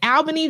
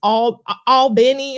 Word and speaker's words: Albany: What did it say? Albany, Georgia? No, it's Albany. I'm like, okay. Albany.